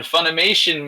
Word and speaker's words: Funimation: And then to his outside is the one Funimation machine.